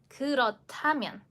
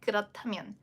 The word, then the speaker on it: 그렇다면: So, again, just dropping the h sound because it will only need it just for combining and then make it into one aspirated consonant in pronunciation.